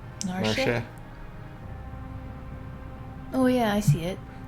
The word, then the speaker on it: Narshe: I think some people say the E in that. I think in Japanese it's kind of like she. Narshe.